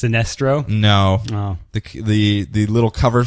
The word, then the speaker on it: Sinestro: It's not pronounced Sinestro? No. Oh. The little cover script was, "That's the tragedy of all this, Jordan. We'll always be friends." I was instantly sad after reading it. It's Sinestro and his Yellow Lantern squad of Lyssa Drac.